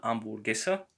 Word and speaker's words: hamburguesa: Once again, the letter H is silent always in Spanish, so it's always silent in Spanish. So una hamburguesa con queso.